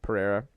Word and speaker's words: Pereira: was the Kevin, I don't know how to pronounce his last name. Kevin Pereira. Yeah, Pereira.